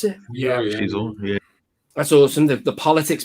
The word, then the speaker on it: Xizor: Is that how you pronounce it? Yeah, Xizor.